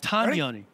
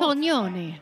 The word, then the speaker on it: Tognoni: Tanyoni. We've been saying it wrong. Tognoni. Tognoni. You have to do that thing with your hand when you say it. I've got to be more Italian.